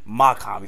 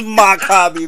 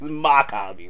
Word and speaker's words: Mach-Hommy: Mach-Hommy. First, you see the nigga name wrong. That is Mach-Hommy, man. Come on, man. It's Mach-Hommy, man.